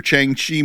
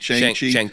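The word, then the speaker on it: Shang-Chi: But they must have been signed to things like, "All right, you're going to do your Changi movie." Did I say his name right? Shang Chi.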